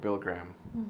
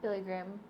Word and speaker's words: Billy Graham: And I remember going inside, and they're playing a video of Bill Graham. Billy Graham? Billy Graham.